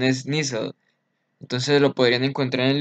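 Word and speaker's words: Nissl: inglés y no es así es ser su pronunciación es nissan entonces lo podrían encontrar en libros como sustancia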